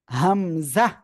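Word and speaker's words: ء: শিখবো এখন ইনশাল্লাহ দেখেন এই যে হামজা হামজাহ হামজাহ ঠিক আছে হামজাহ এ অক্ষরে কোন টান হবে না ঠিক আছে হামজাহ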